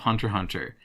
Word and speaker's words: Hunter x Hunter: a huge fan of Hunter hunter and yeah you don't pronounce X that's the big thing I only have little